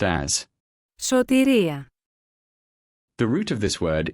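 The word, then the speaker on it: σωτηρία: The Greek word for salvation is pronounced as Sōtēría.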